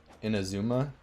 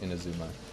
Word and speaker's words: Inazuma: It's Inazuma. I've heard it pronounced a lot of other ways, but I call it Inazuma.